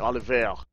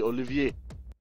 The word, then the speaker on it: Olivier: all of this time I've been saying ol which I've missed the eye toally and it's actually Olivier uh so justay Olivier